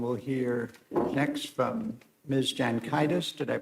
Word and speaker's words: Jankaitis: Jankaitis. Did I pronounce that correct? That was perfect. Thank you, Your Honors. May it please the court. My name is Jankaitis.